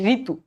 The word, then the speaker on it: ঋতু: আচ্ছা এরপর দেখো রি যদি শুরুতে থাকে, এখানে কিন্তু কন্ডিশন আছে, শুরুতে, শুরুতে থাকলে সেটার উচ্চারণ হবে ঋতু, রয় ঋষিকের রি।